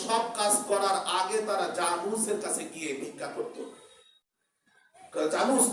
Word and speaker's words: Janus: Roman পুরাণে, রোমানদের সেই পুরাতন বইপত্রে তারা একজন দেবতার পূজা করে, যার নাম হলো জানুস, JANUS, জানুস। রোমান ভাষায় এটা তারা উচ্চারণ করে ইয়ানুস। এটা ইংরেজিতে যখন উচ্চারণ হয় তখন জানুস।